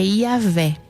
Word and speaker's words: Iavé: E o nome de Deus do hebraico, o que a gente consegue uma pronúncia mais próxima disso para o português é Iavé.